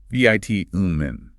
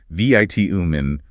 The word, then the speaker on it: vitamin: In the UK, it utilizes a short I, vit-umin. The American host actually admits to feeling slightly pretentious if he tries to say vit-umin while back home in the States.